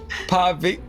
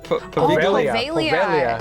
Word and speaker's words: Poveglia: Investigating the infamous Paviglia Island? Poveglia. Poveglia, thank She you. is silent.